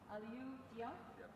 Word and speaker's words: Aliyu Diop: And the third one is, can you help us with the pronunciation, please? Aliyu Diop.